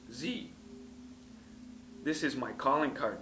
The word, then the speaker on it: Xe: changed its name to a word that is spelled XE, which is pronounced Z.